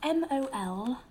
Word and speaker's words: Molina: your surname for the key log yeah um it's spelt m-o-l-i-n-a great so you know you don't need to